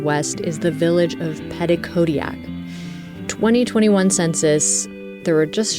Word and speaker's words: Petitcodiac: is the village of Petitcodiac. 2021 census, there were just shy of 1,500 residents here. Can you say it so I say it right? Petitcodiac. Okay, the emphasis at the end.